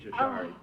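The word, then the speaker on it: sari: sorry you say essay you spell it s-a-r-i but you pronounce it sorry to fool people uh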